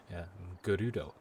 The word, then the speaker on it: Gerudo: Fun fact, the Japanese word for gold, or a Japanese word for gold, is pronounced quite similar to the Gerudo, the name of the Gerudo people. Gerudo.